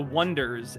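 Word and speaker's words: Oneders: And the name of the band is the Wonders. And it's supposed to be spelled like O N E like dur like wonders.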